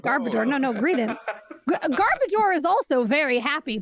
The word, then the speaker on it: Greedent: Well, I've been informed that make sure you pronounce it as Greedent, as in rodent. Don't go Greedent, because it's not about the greed. It's about the rodent.